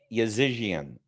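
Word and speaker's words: Yazijian: let me make sure i got the pronunciation correct yeah yazizian y-a-z i-j-i-a-n okay all right now him and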